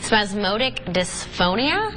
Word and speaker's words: spasmodic dysphonia: voice disorder I don't know if I'm gonna pronounce this correctly so bear with me spasmodic dysphonia yes that's very good that's very good that